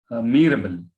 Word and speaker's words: Mirabel: Now, listen how to pronounce the name of the characters. Mirabel is the important character, the hero of the play, a protagonist of the play.